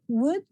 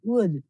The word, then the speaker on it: would: Please remember que la pronunciación de would es como si fuera una W, una U, would, no would. La L is a silent sound, okay?